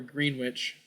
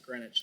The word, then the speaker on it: Greenwich: make a play towards Greenwich or green witch I'm pretty sure they pronounce it grenwich there sometimes they like